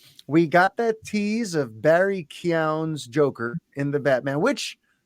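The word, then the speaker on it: Barry Keoghan: the batman we got that little glimpse of barry kyown's by the way that is how it's pronounced even though it's spelled kogan keegan whatever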